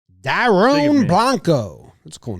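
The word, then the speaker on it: Dairon Blanco: yeah yeah pronunciation yeah I said Darian Blanco it's Dome Blanco wow apologies wow Daron Blanco that's a cool name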